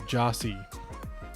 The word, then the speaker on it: Gyasi: The official pronunciation guide for FC Dallas says it is pronounced JAH-SEE. So Gyasi.